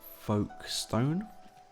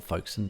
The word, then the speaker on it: Folkestone: Lord Beard, and the village of Folkestone or Folkestone, depending on how you say it.